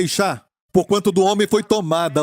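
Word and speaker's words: אישה: Mulher em hebraico é Ishá, porquanto do homem foi tomada.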